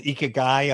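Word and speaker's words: ikigai: a a term called eekai I think is how you pronounce it or ik I've heard it pronounced different ways and honestly I'm not sure which is Right?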